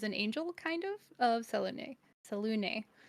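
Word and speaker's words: Selûne: I always say that name wrong. Apparently, a lot of people say Saloon too, which I think sounds silly. And I think that's but we're gonna go with Selune because that's the pronunciation, I guess.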